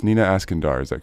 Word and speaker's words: Iskandar: sounds good alright so Nina make sure I pronounced your name correctly it's Nina asking door is that correct ask and I okay yeah